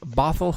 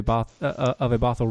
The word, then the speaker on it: Bothell: Keep saying Bothell. Bethel. Bethel. It's Bethel. No, it's Bethel. Bothell. No, it's pronounced here as Bethel. Too bad. It's Bothell. I know.